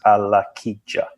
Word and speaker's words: Alakija: So yeah, it is exactly as it's spelt is exactly as it sounds. So it's Alakija, which is Alakija.